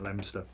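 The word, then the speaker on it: Leominster: of those things but you pronounce it lemster it's so named for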